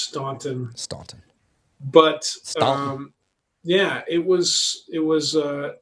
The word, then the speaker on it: Staunton: yes so uh it is it is officially pronounced staunton but um yeah it was it was uh